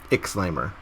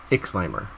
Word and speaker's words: Ixlimor: Ixlimor. Ixlimor. Yeah, I don't know how I feel about that. Ixlimor.